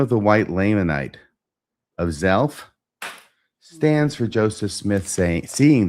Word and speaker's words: Zelph: among the Lamanites, and his name was Zelph. Rhymes with self.